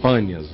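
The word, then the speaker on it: Banias: Rio Pan ou panas os árabes não conseguem os drusos não conseguem pronunciar o p os drusos moram naquela região do Monte hermon então ficou bandias porque eles não conseguem falar o p mas é seria panas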